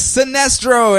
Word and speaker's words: Sinestro: It's not pronounced Sinestro? No. Oh. The little cover script was, "That's the tragedy of all this, Jordan. We'll always be friends." I was instantly sad after reading it. It's Sinestro and his Yellow Lantern squad of Lyssa Drac.